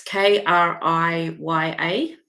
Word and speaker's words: Kriya: How do you spell that? It's Kriya.